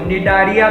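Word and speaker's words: Cnidaria: इसे कहते हैं सिलेंटेरेटा या फिर निडारिया नहीं कहते इसको, निडारिया कहते हैं, सी इज साइलेंट, ठीक है, निडारिया कह सकते हैं आप।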